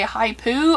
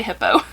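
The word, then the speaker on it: Hiipoo: spelled h-i-i-p-o-o so like I've heard some people say hi poo I don't know it's got a picture of a hippo on it so I just say hippo my last thing I'm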